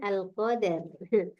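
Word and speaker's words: القدر: Bukan Umi itu bacanya al-qadar.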